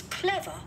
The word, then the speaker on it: clever: My aunt is clever and patient. Ok. My aunt is clever. Clever, trọng âm 1 này.